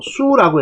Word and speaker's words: 宿: 아무튼 여기 별을 28숙이라고 읽지 않고 수라고 읽는다. 별을 지칭할 때는 수라고 해야 돼요. 수.